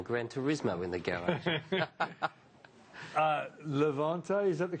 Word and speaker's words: Levante: Levante, is that the correct pronunciation? Levante, si.